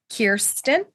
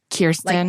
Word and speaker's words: Kirsten: Kirsten. Kirsten. Like Royale, like. Got it.